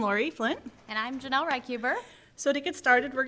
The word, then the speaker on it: Reichuber: But we will talk a little bit more about the working groups during lunch, and then Janell Reichuber, correct? Reichuber.